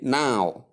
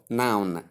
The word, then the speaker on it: now: That is why we say now instead of noun. So if you're among the people that have been pronouncing this word as noun, please desist from that, because that is not the right pronunciation of the word. We only have now and not noun.